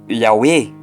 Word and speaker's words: Yahweh: O vocábulo Yahweh pode ser dividido em 3 elementos. 1. Yah. 2. O rei e o W, ou seja, o H e o W, o rei e o Vav.